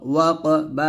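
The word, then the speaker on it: وَقَبَ: ওয়া কফ জবর ক ওয়া ক বা জবর বা ওয়া ক বা রফ দিলে বাটা কলকলা হবে এরকম ওয়া কাবে এরকম ভাবে কলকলা করবেন তার একসাথে হবে ওয়া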